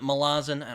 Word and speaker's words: Malazan: have gotten to read Malazan, or however the hell you pronounce it. Apparently Erickson doesn't really care how you pronounce it. Yeah. Though he calls it Malazan, I don't care.